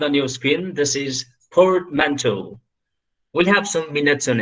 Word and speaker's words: portmanteau: I hope you've been trying with your muted options audio, you've been trying the pronunciations. If you're wondering it, this is portmanteau.